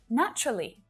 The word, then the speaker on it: naturally: it's the same with naturally most of my students will pronounce naturally with four syllables right but when a native speaker says this word out loud usually you'll only hear three syllables naturally naturally naturally so